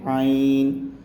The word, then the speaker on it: عین: طرح ادا کریں گے۔ عین کو ہم حلق سے نکالیں گے، جیسے ہم نے ہا کا تلفظ کیا تھا اسی طرح ہم عین کا کریں گے۔ عین۔ غین کو بھی ہم